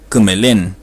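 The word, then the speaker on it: kümelen: me quiere decir bueno traten de imitar la pronunciación que me de esta palabra que me sale el verbo que me leen estar bien para decir estoy bien se dice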